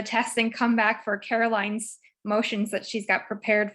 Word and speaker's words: Caroline: to speak yeah uh carolyn's up next right caroline yeah okay take it away carolyn hey caroline is how you say my name oh i'm sorry it's